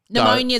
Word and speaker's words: pneumonia: Pneumonia is another one that starts pneumonia is another one that's hard, isn't it?